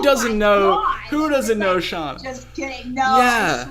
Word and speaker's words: Shanna: So my mom pronounces it Shauna, but it's spelled like Shanna.